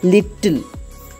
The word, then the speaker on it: little: Whenever we see the double letters, we have a tendency to emphasize by pronouncing them with a greater degree of force, like L-I-T-T-L-E, little, L-E-T-T-E-R, letter, but it's wrong. We have to pronounce it as little, letter, button, mutton, S-U-M-M-E-R,